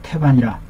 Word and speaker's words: 태반: 설사가 줄어들은 것이 그 태반이라 태반이라 태반이라 테라고 읽습니다 큰 대인데 태반에 해당에 속보 라